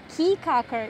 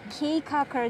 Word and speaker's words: Caye Caulker: kaka located in belize yes i said peacocker not k-cocker that most americans pronounce right now we right